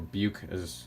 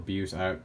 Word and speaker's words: Bucephalandra: Bucephalandra, or Buke, or Buse, people pronounce it a bunch of different ways.